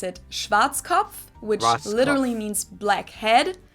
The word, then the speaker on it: Schwarzkopf: over the world pretty much in german we pronounce it schwarzkopf which literally means black head schwarzkopf english native speakers usually pronounce it schwarzkopf or schwartz cough or something along those lines deutsche bank is